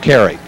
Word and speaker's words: Cary: thanks to cash and Cary and that rhymes with Larry and we're back 105